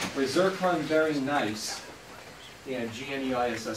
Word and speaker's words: gneiss: run very nice and gneiss is pronounced nice and it is this